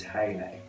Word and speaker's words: Hayley: they insisted on saying Hallie on the phone. No, because the E before the Y makes the A into an A. It's Hayley, Hayley, not Hallie.